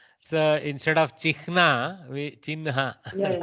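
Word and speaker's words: चिह्न: So instead of Chihna, we Chinha. Yeah, we are habituated, pronouncing it as Chihnam, but I think Excellent.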